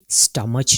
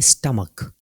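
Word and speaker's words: stomach: आएगा बल्कि आएगा मोनकी स्टमच नहीं होगा बल्कि हम कहेंगे स्टमक Cuttack what eco honest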